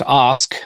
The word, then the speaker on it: Ask: marks right it's funny my last name is ask you know ask and it's it's pronounced OSK oddly enough it's a there's a town in Norway named OSK that's my heritage but